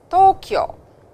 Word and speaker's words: Tokyo: Kino, and you will notice that O has a bar on top and the reading is U, which states that it is a long sound, as you can see over here with U as well.